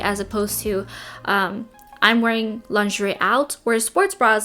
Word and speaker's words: lingerie: I am personally not a fan of wearing lingerie out in public, or in France you say lingerie. It's not lingerie. It's just two syllables.